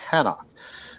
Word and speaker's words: Enoch: But there's two Enochs, which I'm probably jumping a little bit ahead, but he names the city after his son Enoch, and some people pronounce it Hanok.